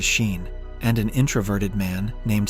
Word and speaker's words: Sean: young travelers, Tez and Sean, pronounced as Sheen, and an introverted man named C.